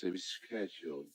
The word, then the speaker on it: schedule: If you listen closely, you can hear him pronounce the C in the word schedule. I'll have a schedule.